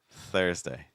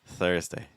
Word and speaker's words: Thursday: up everything after it so we want to try to just have light contact with your top front tooth or your bottom front tooth it's like Thursday Thursday that's against my